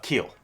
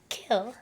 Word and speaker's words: Qil: Keel. Kill? Keel, yeah.